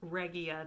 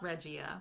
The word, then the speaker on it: Regia: And Sue of the Yarn Maven told me that it is actually pronounced Regia, not Regia, which is how I was saying it before.